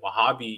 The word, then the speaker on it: Wahhab: posited within the scope of Saudi Arabia and Wahhabi. You know, you have I can't pronounce his name, but it's like Ibn al-Wahhab, who was like this very reactionary scholar.